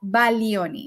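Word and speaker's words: Baglioni: it's Italian it's called Bagon but iach a little bit of Italian actually the G you should not pronounce the G so it's called Balo if I want to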